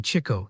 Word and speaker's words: Chico: That was how he came to be nicknamed Chico, which was meant to be Chico, the way we always pronounced it.